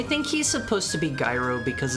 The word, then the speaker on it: gyro: You don't have to get a euro. It's actually pronounced gyro.